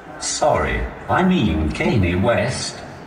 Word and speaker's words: Kanye West: the phone especially if it's for someone like kane west sorry I mean Kanye West come West oh sorry Mr as you can see it's